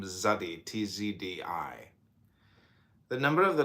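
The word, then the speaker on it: Tsadi: Zadi, pronounced Zadi. Zadi, transcribed as TZ, the number 90, meaning fishhook, the natural intelligence.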